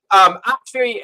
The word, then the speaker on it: Aqshy: Aqshy. Fire. Aqshy. Okay, Aqshy. Now, there's lots of ways to say it. Now, Aqshy is how it's most commonly pronounced, but you'll find that often in the